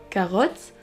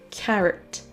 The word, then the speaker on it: carrot: Et vous allez certainement prononcer le mot carotte avec un O, comme vous le feriez en français. Donc vous allez dire carotte au lieu de carrot.